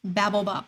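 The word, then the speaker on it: Babel Bop: i saying it right that is correct easy to screw up but it is babble bop i said it earlier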